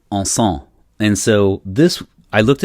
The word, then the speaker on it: encens: It's my understanding that in French, incense is E-N-C-E-N-S, which I think is encens, E-N-C-E-N-S. I don't think you pronounce the S at the end.